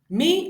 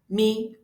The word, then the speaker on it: mi: Then we move on to the second mi, which is the middle tone. It is pronounced as re, re.